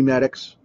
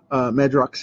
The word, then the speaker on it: Madrox: Multiple Man, you know, Jamie Maddox, Madrox, actually, depending on how you pronounce his name. There's like three different ways to do it.